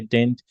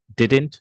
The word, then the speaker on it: didn't: And when you say didn't, you keep the second D silent. You do not pronounce it. So didn't, no, didn't.